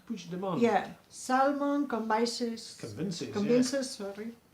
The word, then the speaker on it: Puigdemont: Puigdemont. Puigdemont.